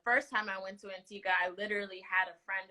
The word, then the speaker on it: Antigua: to Antigua like five times so it is pronounced Antigua and not Antigua no oh please don't they